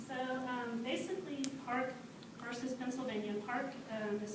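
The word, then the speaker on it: PARC: Park versus Pennsylvania, Mills versus Board of Education, Raleigh versus Hendrick Henderson School District, and Daniel R.R.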